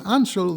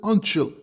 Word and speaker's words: Anshel: So when his name is Anshel, they pronounce it Antshel.